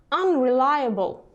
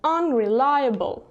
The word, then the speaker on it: unreliable: Optimistic, pessimistic, unreliable, опять же два ударения, unreliable, irritable, impatient, insincere.